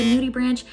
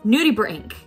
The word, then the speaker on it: nudibranch: as I said earlier, the nudie branch. It's actually not pronounced like that. I have a friend who is a marine biologist, and I was able to ask her, how do I say this name? It is nudibranch.